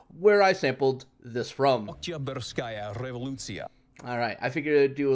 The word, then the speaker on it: Oktyabrskaya Revolutsiya: Oktyabrskaya Revolutsiya.